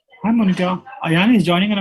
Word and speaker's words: Monita: Is it Monita? How do you pronounce it? It's Monita.